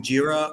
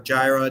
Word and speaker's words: Jira: when you're doing the next build, almost everybody is either using Jira or Gyra, depending on your pronunciation, or they're using the